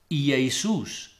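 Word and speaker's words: Ἰησοῦς: in his mother tongue would do so as Iisus.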